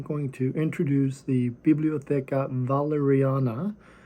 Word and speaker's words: Walleriana: to introduce the bibliotheca valeriana it's actually pronounced with a V because it's Swedish even though in English it looks like a w so think of valerian